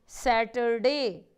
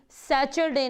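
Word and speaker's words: Saturday: यू are settle divided सेटरडे सेटरडे students को किसी ने कभी भी सैटरडे नहीं बोलना यह बहुत बड़ी गलती होती है हमेशा इसको कि आपने उस करते हैं सेटरडे सेटरडे क्या है यह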